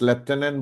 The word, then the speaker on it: lieutenant: The pronunciation is lieutenant, but the spelling is lieutenant.